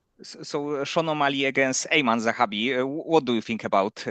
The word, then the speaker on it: Aiemann Zahabi: How do you pronounce the other guy's name? Aiemann Aiemann Zahabi.